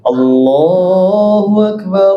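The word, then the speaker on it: الله أكبر: Ada orang azan gini. Allu akbarullah. Allah bukan Allah tapi Allahu Akbar Allahu Akbar bukan Allah tapi Allah kalau ditanya dibetulkan apa enggak betulkan, Pak.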